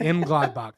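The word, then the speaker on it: Mönchengladbach: M Gladbach.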